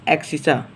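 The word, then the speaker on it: abscissa: उसका नाम होता है एक्सिसा। मतलब उसको अलग लिखा जाता है, प्रोनाउंसिएशन उसका होता है एक्सिसा। और वाई हमारा होता है ऑर्डिनेट। एक्स हमारा एब्सिसा होता है और वाई हमारा ऑर्डिनेट होता है।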